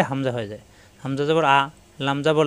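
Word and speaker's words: أَلَمْ: আলাম তারকাইফা রব্বুকাবিহাবিলফ আ এটা আলিফ আলিফে হরকত আসলে হামজা হয়ে যায় হামজা জবর আ লাম জবর লা লাম এলবে মিমের সাথে আমরা জানি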